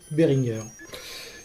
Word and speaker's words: Behringer: présenter sa société et il prononce behringer bien que ces sociétés soient pourrait majorité anglaise bien que la majorité des gens le prononce al anglaise eh bien nous allons faire comme pour monsieur mug nous allons respecter la parole du premier intéressé et donc l'appeler behringer donc ici nous avons